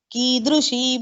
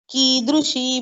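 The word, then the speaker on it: कीदृशी: Vina Vedam, Vina Gitam, Vina Ramayanim Katham, Vina Kavim Kalidasam, Kidrushi Bharatiyata. Kidrushi Bharatiyata. Here ki is long. So pronounce it long.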